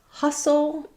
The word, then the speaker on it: hustle: small schwa there, soul, hassle, versus hustle. Same pattern, but we have the stressed schwa, the sound in our stressed syllable. So that would be hustle.